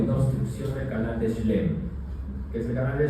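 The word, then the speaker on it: Schlemm: Canal de shlem, así se llama. Está como se escribe.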